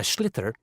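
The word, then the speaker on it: sliotar: And basically, you have to get this ball called a schlither. That's s L I O T A R. So, it's not spelled the way it's pronounced.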